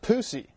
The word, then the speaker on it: Pusey: And one more, maybe too hot for TV, Eastern Illinois player Lucius Pusey, like Gary Busey.